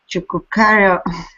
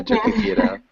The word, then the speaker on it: Choquequirao: The Peruvian government is studying the possibility of constructing a tramway to Chucucareo, Yeah, Choquequirao.